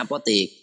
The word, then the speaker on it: apotek: apoteker Apotek jadi Apotik Itu tulisannya tetap kaidah Belanda ap o tek Tapi bacanya apok sama Allah itu tulisan